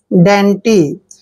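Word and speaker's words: dainty: ट is important word D का उचन डी ए आई एन टी वाई डी का उ चण ड लिखेंगे ए आई को ए की मात्रा लिखते हैं एन को हमने न लिखना है और टी वाई को टी पढ़ते हैं डेंटी डेंटी होता है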